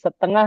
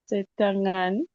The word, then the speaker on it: setengah: Setengah means setengah. Can you pronounce it, Miss Grace? Setangan. Setengah. With age at the end.